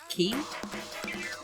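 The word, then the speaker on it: kei: Key? K? How do you pronounce K-E-I?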